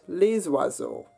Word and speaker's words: les oiseaux: However, if your noun that follows that word starts with a vowel, as in oiseau, meaning birds, that S does get pronounced, so we get les oiseaux.